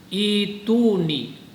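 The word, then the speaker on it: ائْتُونِي: Nah, ini perhatikan nih pada kata ituni. Ini kalimatnya ituni. Jadi ada 2 hamzah. Nah, hamzah yang keduanya itu diganti badal, namanya diganti seperti kayak bacaan mad.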